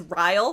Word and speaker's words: Ryle: We learn that his name is Ryle, spelled like Kyle, but with an R, because why not?